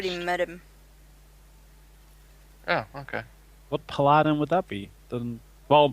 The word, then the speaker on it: paladin: I think it's pronounced paladine, isn't it? Paladin. I always say paladin. I've never heard paladine. That sounds weird to me.